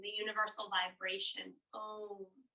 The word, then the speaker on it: Om: Om. Some people will say it with 3 syllables. Aum. But for our mantra today, it'll just be Om.